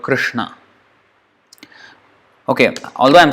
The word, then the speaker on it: Krishna: Chris you know Krishna it's not cream this are with dot is not equal to this it's not i'm congesting your whole thing is congested with here I'll draw it this is not equal to this so it's Krishna it's not Krishna or Krishna Krishna not re not root Nara Krishna Krishna so that's the actual pronunciation of the word Krishna okay although I'm saying